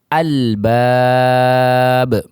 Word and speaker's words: al-bab: Yaitu kita contohkan alif lam bertemu dengan huruf ba di kalimat al-bab. Al-bab. Al. Maka lamnya ikut atau masih terbaca.